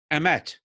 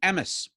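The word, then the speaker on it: אמת: So consider the Hebrew word for truth, emet, in the Ashkenazi pronunciation, emes.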